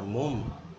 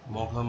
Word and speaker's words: Maugham: যদিও বানানটা মম এর স্পেলিংটাকে দেখে অনেকে ভুল উচ্চারণ করে, মঘাম বা ইত্যাদি করে, কিন্তু আসল উচ্চারণটা হচ্ছে মম।